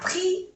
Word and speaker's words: pris: Il a pris le bus. Pris no se pronuncia la S. Pris.